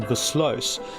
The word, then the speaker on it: Versluis: I don't really know what my father's family were doing, but judging by the name Versluis, that in Dutch you pronounce that Versluis, and Sluis, the second